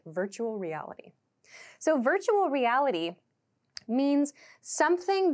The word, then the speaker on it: virtual reality: is pronounced virtual virtual at Native speed this sounds like virtual reality so these R and L sounds kind of connect virtual reality so virtual reality means